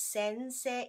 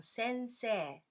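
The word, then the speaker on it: 先生: word in hiragana e although we spell this Sensei e we pronounce this one sensei not sensei okay but anyway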